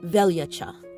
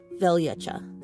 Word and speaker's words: Veljača: So January is pronounced Ciechan, and then the month of February is pronounced Veljača, Veljača. So you could kind of see here for my nerds, Veljača, and then Ciechan.